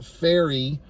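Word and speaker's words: Pharry: uh early on there's a character named Taylor faery that's how it's pronounced p h a RR y so they're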